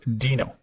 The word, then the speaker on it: Deno: get ready for this is it Dino or den oh the answer it's pronounced Dino and some reason I've always been calling it